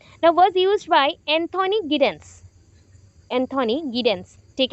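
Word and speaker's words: Giddens: Was used by Anthony गिडेंस, Anthony गिडेंस, ठीक है, जाइडेन बोल सकते हो, एंथोनी जाइडेन, बट जाइडेन का एक्चुअल स्पेलिंग अलग है, ये जिडेन बोलो गिडेन बोलो चलेगा, प्रोनाउंसिएशन आपको जानना है बस, एंथोनी जिडेन।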